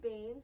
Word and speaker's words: bane: boons but they're pains no it's spelled b-a-n-e-s like being like you're the bane of my existence judge evie but like pain in vain because it's not spelled the same way b-a-n-e p-a-i-n let me finish his class no okay yeah yes it's bane like window pane yeah anyway it's a